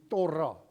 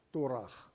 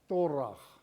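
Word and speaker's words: Torah: Hierdie wet word genoem die torra. As jy dit reg wil uitspreek volgens die Joodse uitspraak is dit torag. T o r a h. Torrag. Ek gaan sê torra dat jy mooi kan verstaan.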